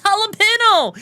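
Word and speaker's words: jalapeño: That's not Joel Aeno. No, that's not how you say it. No, it's jalapeno. It's jalapeno.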